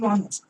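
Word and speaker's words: honest: তারপর দু নাম্বারটা বলছি দু নাম্বারটা দেখো কনসোনেন্ট দিয়ে শুরু কনসোনেন্ট দিয়ে শুরু কিন্তু উচ্চারণ ভাওয়েলের মত ভাওয়েলের মত এমন শব্দের আগে এমন শব্দের আগে এন বসে এইবার দেখ তোমরা বল দাদা কনসোনেন্ট দিয়ে শুরু বুঝলাম না ধর অনেস্ট এইচ ও এনই এসটি অনেস্ট এইটা তোমরা ছোট থেকে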